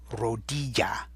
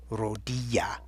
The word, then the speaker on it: rodilla: You're hearing that Y sound again, but remember what I said back up on number 8 about Y sounds. They could be a Y in Spanish, but I'm warning you, in this one, it's not.